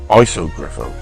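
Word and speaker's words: Iso Grifo: So Ivor Williams, great video, but the name of the car is pronounced Isogriffo. It's pronounced, not ISO like I says, because on the back of the base plate it says capital ISO, so I thought it was called an ISO Griffo, but apparently you pronounce it an Isogriffo. Well, sorry Ivor, I apologise for that.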